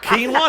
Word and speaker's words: quinoa: It's like, oh shit, quinoa.